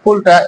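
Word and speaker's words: قل: এইটা যদি আপনারা উচ্চারণ করেন কুল, তাহলে এটা ভুল হয়। আপনি যদি কুল এইভাবে উচ্চারণ করেন তাহলে তুমি করো এটা তুমি বলো, করো না, তুমি বলো। হ্যাঁ, এটা এইভাবে সঠিক উচ্চারণ হয় কুল।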